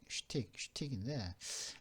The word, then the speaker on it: schtick: 이 발음은 쉬고 틱인데 발음은 틱의 강세가 있습니다. 슈틱인데 슈틱이 뭐냐면은 슈틱 발음 슈틱인데 개인의 어떤 전형적인 특징이나 그 사람만이 갖고 있는 재주, 그죠?